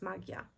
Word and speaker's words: magia: I would say in in Spanish you pronounce it a little bit differently but in Polish it's magia so uh if it's